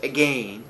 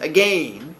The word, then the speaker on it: again: There's a reason why I pronounce it as again, and not because I'm a fancy lad. Although I am kind of a fancy lad. But there's another reason for it. Why pronounce it as again, as opposed to just being a fancy person? Neb. Because it rhymes with the word lane.